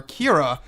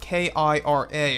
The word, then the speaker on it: Kira: Abrams wanted to call her Kira as opposed to Rey. And by the way, it's spelled K-I-R-A. It's not Kira with a Q, like in Solo: A Star Wars Story. This is a different name.